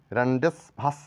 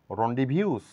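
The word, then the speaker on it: rendezvous: লেটারটি silent রয়েছে যেমন রেন্ডেসভাস না বলে এটা সঠিক উচ্চারণ করবো আমরা রন্ডিভিউস রন্ডিভিউস রন্ডিভিউজ বলতে সাক্ষাৎকার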